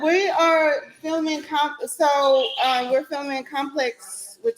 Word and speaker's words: Complexx: So this one is Complex. It's spelled COMPLEXX. The 2 X's.